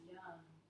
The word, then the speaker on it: Yam: And we'll close our class today by chanting the mantra associated with this chakra, which is pronounced in Sanskrit as Yam. So join me if you like. Deep, full breath in. Yam.